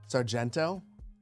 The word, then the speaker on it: Sargento: You don't know how it's pronounced, but according to the ad, it's pronounced Sargento.